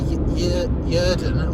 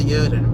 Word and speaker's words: Yrden: But I would say Yrden or Yrden. But I'd say Yrden, Y-R-D-E-N.